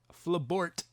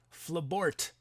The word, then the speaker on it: Flabort: ninja fleas and flabart flabort i'm so sad i i was mispronouncing your name for so long flabort not flabor the knight from france